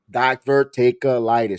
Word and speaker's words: diverticulitis: the one in November, but he has that divertitis. I know I butchered it, internet world, so don't I know I butchered it. What Brock Lesnar had. Diverticulitis? Diverticulitis.